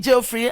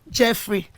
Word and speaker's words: Jeffrey: Jeffrey, if your name is Jeffrey and you've been pronouncing Jeffrey, I'm very sure you should know that it was wrongly pronounced from this thing before, but from now henceforth you should pronounce it as Jeffrey.